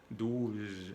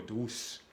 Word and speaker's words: douze: Por ejemplo, vamos a ver la palabra douze, no douce, douze, es 12. Porque si pronuncian la Z como una S, douce, quiere decir suave o dulce. Imagínate, no es igual.